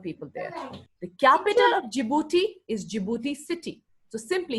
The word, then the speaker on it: Djibouti: Our currency is the Djibouti franc. D is silent. D is always silent.